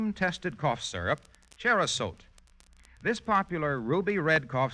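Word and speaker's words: Cherrosote: contains no narcotics you can depend on on cherot it's spelled c h e r r o s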